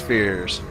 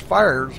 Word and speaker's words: Fears: number 34 of Chris Fears. Fires. Back to you, Rudy. Fires. I apologize. Yep. He said it's Still pronounced- learning names here. Yep, he said it's pronounced Fires, and that's okay.